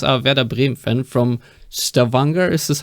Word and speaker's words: Stavanger: you of course are veda brim fan from stavanger is this how you pronounce it yes stephanie norway uh so um